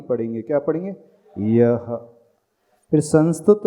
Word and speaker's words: संस्तुतः: फिर संस्तुत शब्द लिखा है, उसके पश्चात भी विसर्ग है, तो संस्तुतः ऐसा उच्चारण करना।